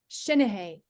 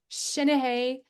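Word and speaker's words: seanchaidh: Now, I just spoke with Philip Beddoes, who is the Clan MacBean Shinahay. It's Gaelic and it's Shinahay. Do not pronounce the K at the end.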